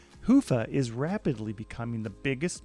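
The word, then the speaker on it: Hyvä: talk Commerce is sponsored by hia or as the Europeans say hoofa or the right way to say it hoofa is rapidly becoming the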